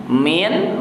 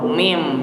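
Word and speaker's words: مِن: Min menjadi mim. Nah, itu namanya iklab. Dibacanya di situ lihat ada huruf mim. Jadi bacanya tidak min tapi mim. Ya, namanya iklab.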